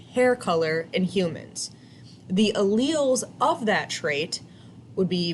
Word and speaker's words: allele: our first vocab word is allele that is pronounced allele so this is how we describe genetic traits